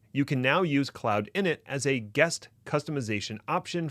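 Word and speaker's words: cloud-init: to State for the record that it is pronounced cloud in it and not cloud in it management regrets well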